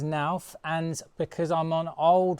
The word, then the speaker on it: Knauf: Just to let you know, I'm going to pronounce knauf as nauf, and because I'm on old regs, my U value needs to be 0.18 on the pitched roof or lower.